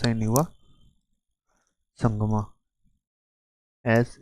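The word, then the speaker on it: Sangma: सीएम of Meghalaya कोन रत संगमा ठीक है प्रोनाउंस नहीं हुआ संगमा एस ए एन जी एम ए ठीक है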